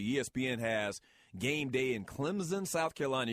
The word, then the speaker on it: Clemson: has game day in Clemson South Carolina you got to say it like a z if you're from South Carolina that's how we say it the Clemson Tigers man